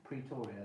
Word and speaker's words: Pretoria: Pretoria, there you go.